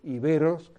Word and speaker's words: íberos: Y fíjense ustedes que tanto en la versión francesa como en la versión española, la E tiene esa rayita arriba, que lo que está diciendo es, oiga, pronuncien ustedes iberos, que es como tenemos que pronunciarlo.